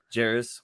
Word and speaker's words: Jarace: God I can't say his name for somebody Jairus Walker yeah you said it right the whole